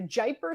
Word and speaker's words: Jaipur: Is it the Jaipur Stakes? Am I pronouncing that properly?